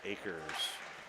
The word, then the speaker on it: Akers: Maybe I misspelled it on the line chart I typed up, but it is pronounced Akers.